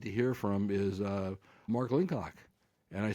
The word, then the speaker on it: Linchuck: I'll correct you really quick, Les. It's Linchuck. Oh, gee, I mispronounced the name.